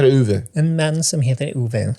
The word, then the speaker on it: Ove: How do you say it? En man som heter Ove. En man som heter Uwe.